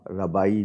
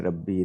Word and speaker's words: ربی: ایک ان کے وہ ربائی جو کہلاتے ہیں، ربی ربائی دونوں تلفظ، وہ باقاعدہ اللہ کا